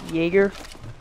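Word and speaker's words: Jäger: days of Y and it's pronounced Jaeger so if you can't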